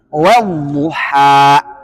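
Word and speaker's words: والضحى: Wal ketemu duha bacanya wadduha.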